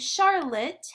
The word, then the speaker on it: Charlotte: And Charlotte has a silent E at the end of her name. We don't say the sound, but it's there.